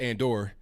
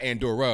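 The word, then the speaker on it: Andorra: a small country and it's pronounced and or like not aunt Dora if I'm not mistaken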